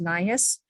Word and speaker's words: NIHHIS: Health Information System that I now know is pronounced NIHHIS.